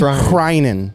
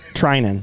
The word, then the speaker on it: Threinen: I think it is Threinen. H is silent. Right. Threinen.